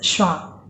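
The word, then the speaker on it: schwa: S, C, H, W, A, and its pronunciation is Shwa.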